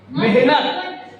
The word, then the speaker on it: मेहनत: जैसे शब्द है मेहनत, सुनो शब्द क्या है? मेहनत, और उच्चारण क्या है? हम लोग कहते हैं मेहनत, भैया बहुत मेहनत है।